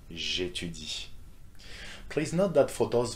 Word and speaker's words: j'étudie: Same will go for j'aime, j'étudie, for these two verbs that start with vowels, okay, A and E. J'aime, j'étudie.